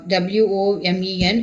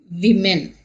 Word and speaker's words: women: w o m e n, it is women.